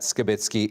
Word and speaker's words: Skitz: shelter that he frequented now you might notice that we are pronouncing scit's name differently CBC News has learned through Court proceedings that skitz is in fact the correct pronunciation of his name and the version that we will be using going forward cbc's Atlantic Cole was at